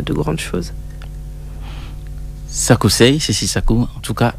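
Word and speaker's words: Sakucey: Oui, tous mes réseaux sociaux, c'est Sakousei. Voilà, sur tous les réseaux sociaux, c'est Sakousei. Ça s'écrit S-A-K-U-C-E-Y.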